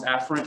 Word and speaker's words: afferent: division and efferent division some people pronounce afferent and efferent to where they almost